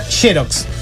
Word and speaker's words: Xerox: Se escribe Xerox y se pronuncia Xerox.